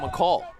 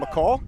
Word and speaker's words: McColl: wheels around tries to chase him back john mccall john mccall yeah grew up with his uh his dad